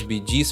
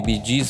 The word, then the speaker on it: Bee Gees: O nome Bidis veio da pronúncia B e D, que significa Brothers Gib ou irmãos gib.